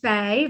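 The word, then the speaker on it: Fai: I'm going to say Faye, but it's spelled F-A-I, Nanette and Edward.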